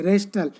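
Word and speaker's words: wrestle: रेस्टल, रेस्टल में W silent है।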